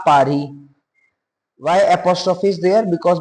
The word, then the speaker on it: Paris: I live in Paris. Paris. S is silent in French, right?